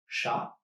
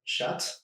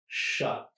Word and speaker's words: chat: So the T is silent, like we said, chat, and not chat, which is the feminine version and is spelled a little bit differently.